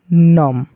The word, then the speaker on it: नमः: इसको पढ़ेंगे ऐसे नम, लेकिन विसर्ग लगा हुआ है तो इसको क्या पढ़ेंगे, नमः। यहाँ पर भी इसका अर्थ क्या हो जाएगा, इसको उच्चारण करेंगे तो क्या हो जाएगा, नमः, समझ गए आप लोगों को, ह पढ़ना है।